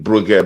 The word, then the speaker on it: Brugge: people the the the pronunciation in that uh uh you know people are calling bug bug the G is silent in in the French lingua so it's a silent G people so any